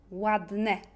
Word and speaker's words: ładne: C'est E, miłe, trudne, ładne. Un peu comme E grave en français.